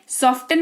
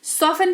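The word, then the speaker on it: soften: है ठीक है जैसे सॉफ्टन नहीं सॉफ्टन यहां पर टी के ठीक पहले एफ लगा हुआ है तो सॉफ टेन नहीं सॉफ एन पढ़ेंगे जिसका मतलब होता है मुलायम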